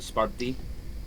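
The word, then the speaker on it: Σπάρτη: call it Sparta well they they pronounce it sparti but yeah Sparta oh they're just being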